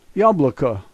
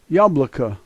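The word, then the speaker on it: яблоко: The first letter is Ya, and it's pronounced Ya. The second letter is a B. The third letter is an L, and then OKO. This is yabloko, yabloko. First letter M, no challenge.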